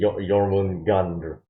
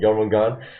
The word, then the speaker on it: Jormungandr: I don't know how to pronounce Norse words, okay? Jormungandr, something like that.